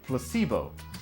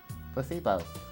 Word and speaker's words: placebo: Repeat after me. Placebo. The stress is on the middle syllable. Placebo.